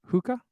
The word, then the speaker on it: Hoka: and Tyler's dimiletto says here in Mexico Hoka it goes hookah really that's interesting I